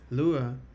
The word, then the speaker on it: Lua: Lua, pronounced Lua, means moons in Portuguese.